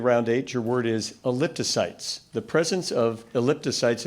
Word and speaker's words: elliptocytes: consists of two Greek Parts elliptocytes am I pronouncing this correctly ellip toyes elliptocytes yes e l l i p t o